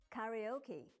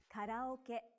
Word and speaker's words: karaoke: You would say karaoke, but in Japanese, you say karaoke. Remember that each syllable in Japanese is pronounced for the same length of time and gets equal stress.